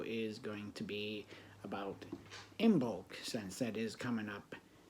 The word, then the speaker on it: Imbolc: Imbolc is also pronounced Imbolg.